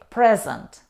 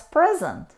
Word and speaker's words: present: by her family and in these words if we stress on the first syllable we say present present it means a gift or the opposite of absent for example I bought a nice present she's present at the